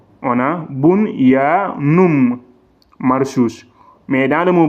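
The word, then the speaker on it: بنيان: On va dire bunyan. Le N, c'est clair.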